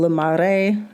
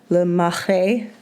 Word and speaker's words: Le Marais: We spent most of our time in Le Marais. No, that's not how you say it. Le Marais. That's how you say it en français.